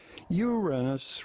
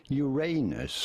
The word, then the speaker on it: Uranus: the second one and say Uranus rather than Uranus although both pronunciations are possible there you go they're